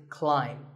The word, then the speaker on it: climb: see on the screen the AI is an AI sound not an a sound so the word is climb by the way what's